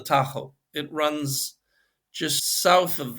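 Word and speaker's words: Tajo: Iberian peninsula's longest river the tus River we say in English in Spanish it's called the Taho it runs just south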